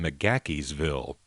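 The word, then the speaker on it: McGaheysville: in macaques field Virginia she pronounces it in macaques Ville and it's actually MC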